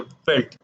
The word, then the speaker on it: veld: WVELD होता है नाम इसका, लेकिन इसको प्रोनाउंसिएट करते हैं फेल्ट।